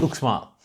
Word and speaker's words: Uxmal: them be book smart it's pronounced look small and so yeah that is look small a really nice light